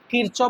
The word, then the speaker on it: কারশফ: তো কারসপ বানানটা এটা বাংলাতে আছে। এটা ইংলিশে কিরচপ বলে অনেকে বা কারসপ বলে যা বলবে তাই।